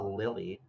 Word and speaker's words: Lille: But this is the Lily Regionals. And it's pronounced Lily, but the Liy Regionals that card was just a warm up.